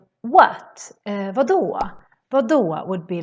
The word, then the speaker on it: vadå: Sometimes the D can sound a little bit like an R in Swedish, at least in some dialects. For example, if you say what, vadå? Vadå would be like what, for example.